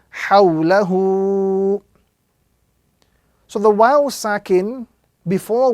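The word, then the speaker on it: حَوْلَهُ: Ha, waw, sukun fatha gives us the sound haw, lam fatha la, and ha lengthening dhamma hu. So this word will be pronounced hawlahu.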